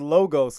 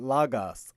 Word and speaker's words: Logos: now and so so it is logos not lagos so you know you asked some of the scholars on the team and that's like oh it's lagos you know that's that's how you say it i i always say logos yeah and sometimes i